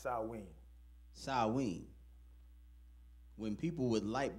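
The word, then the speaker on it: Samhain: the ancient Celtic Festival of saman Sam it's pronounced swe swe when people would light bonfires and wear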